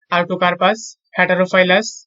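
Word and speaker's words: Artocarpus heterophyllus: কাঁঠালের বৈজ্ঞানিক নাম হচ্ছে আর্টোকার্পাস হেটারোফাইলাস।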